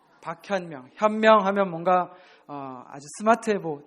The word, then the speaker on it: 박현명: 박헌멍이 아니고 박현명. 박현명.